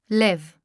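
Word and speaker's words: לב: The Greek word pronounced as Κардία is the translation of a Hebrew word found in the Old Testament pronounced as LEV.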